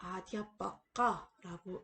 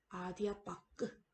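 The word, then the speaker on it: अध्यापक: 그렇지만 여러분 힌디어에서는 이 단어의 끝소리에 오는 단모음 아는 생략됩니다. 그래서 아디아빠까라고 읽지 않고 힌디어에서는 아디아빠크 이런 식으로 아를 생략한 채 발음을 하는 것이 발음 규칙 중에 하나입니다.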